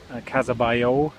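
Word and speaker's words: Casa Batlló: in plaza catalunya just come out of the casabayo gowdy redesigned house it was apparently it was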